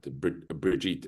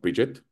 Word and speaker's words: Brigitte: And I love this point that am I pronouncing it right? Brigitte. It's not Bridget. Sheet.